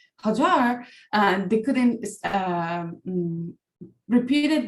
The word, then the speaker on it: Hajar: But the majority of time I prefer to the people and my friends, they can use Hajar. Thank you so much. It's important for us to pronounce it correctly.